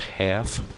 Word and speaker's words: Haff: Oh, Brian Haff. Pronounced half, but it's spelled H-A-F-F, from Chicago.